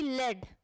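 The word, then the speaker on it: lead: Example बता देती हूँ, जैसे कि लेड और लीड, है ना, इसको बोलते हैं लीड, इसको बोलते हैं लेड, मान लीजिए. ठीक है, तो हम लोग देखिए स्पेलिंग आपको सेम दिख रहा होगा, लेकिन पढ़ रहे हैं इसको लीड और उसको लेड. इस लीड का मतलब गाइड करना, आगे आगे रहना, और वो लेड तो एक मेटल है. ठीक है, मीनिंग भी अलग अलग है, स्पेलिंग आपका सेम है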